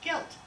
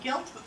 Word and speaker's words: gelt: And when they were gambling with the dreidel, they had what they call gelt. That's G-I-L-T, not G-U-I-L-T. It's G-I-L-T. Gelt. And sometimes it's spelled G-E-L-T, but it's pronounced gelt.